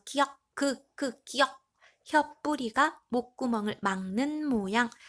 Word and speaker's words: 기역: 기역, 기역. 혀뿌리가 목구멍을 막는 모양. 그래서 우리 한자음으로 아음이라고 얘기했죠. 자, 혀뿌리가 목구멍을 막으면서 혀가 뒤로 당겨지면서 나는 소리 기역입니다.